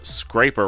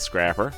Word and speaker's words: Scraper: MC filmmakers said that I pronounced the Word Scraper wrong calling it Scrapper yep you got me